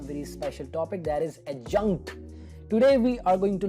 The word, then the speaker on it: adjunct: it is pronounced as adjunct without the letter d so the sound of the letter d is not there adjunct it jumped all right